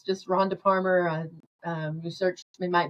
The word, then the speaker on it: Parmer: website it's just Ronda Palmer. Now when you when you type in Palmer it rhymes with farmer but it starts with a P. Yeah. If you put in Palmer you will get something